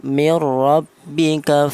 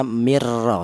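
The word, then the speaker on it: مِن رَّبِّكَ: Ya, cara bacanya mirbika fala takunanna. Tadi ada min, ada nun mati berjumpa dengan huruf ra ini. Ini dibaca idgham bila ghunah. Apa artinya idgham? Idgham itu menyatu artinya yaitu cara bacanya nun mati tadi ee langsung disatukan ke huruf ro ini ya. Cara bacanya mirro seperti itu.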